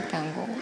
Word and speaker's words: танго: така да се каже просто думата е влязла от френски където е винаги е накрая на дарението иначе в целия останал свят и разбира се в аржентина откъдето е тръгнало ударението на а тоест та понеже на испански е танго а добре тука хората